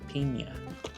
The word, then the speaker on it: piña: Even though you might say it wrong, you might say Pina Colada, but it's actually Piña.